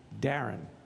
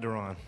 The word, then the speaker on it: Deron: And just to clear up one misconception, or maybe not a misconception, Darren is how the first name is pronounced. Not Deron. Not Deron or Deron. Darren.